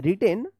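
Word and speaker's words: written: टी ई एन रिटेन देखिए यहां पे डब्ल्यू जो है ना साइलेंट रहता है रिटेन अमन वर्मा वी ई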